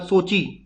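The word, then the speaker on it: Sochi: इसके बाद सोची, ये कोची नहीं है, सोची है, ठीक है, रशिया में आपको देखने को मिलेगा सोची।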